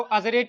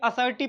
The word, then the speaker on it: assertive: sentence असर्टिव sentence पढ़ेंगे इसको अरेट नहीं पढ़ेंगे बल्कि असर्टिव पढ़ेंगे बच्चे में लोग जब